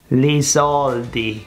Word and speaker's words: li sordi: The L is pronounced as an R. It's a recurring feature. Watch this. Li soldi, i soldi, the money.